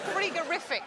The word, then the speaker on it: frigorific: We should pronounce it, yes, cold. Should pronounce it frigorific, probably.